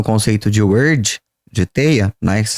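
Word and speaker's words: wyrd: Até porque a primeira cultura a falar de teia quântica, a falar de emaranhado quântico, utilizando o conceito de word de teia, né, que se escreve W y RD, foi a mitologia nórdica.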